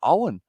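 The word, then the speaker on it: Eoin: let you know that ewen morgan uh seems to announce his name uh owen as well says charlotte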